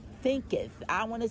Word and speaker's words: Thinketh: As a Man Thinking. Thinketh.